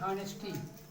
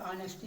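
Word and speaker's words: honesty: इसको लोग पढ़ते हैं हॉनेस्टी, लेकिन हॉनेस्टी नहीं पढ़ा जाएगा, ऑनेस्टी, क्योंकि यह यहाँ पर साइलेंट है। जैसे आपका लिखा जाता है हावर, पेपर में लिखा जाता है हावर, पे पढ़ते क्या है? आवर। इसी प्रकार से आपका है ऑनेस्टी। तो इसमें यह शब्द क्या है? यह साइलेंट है, अर्थात इसका उच्चारण नहीं करते हैं।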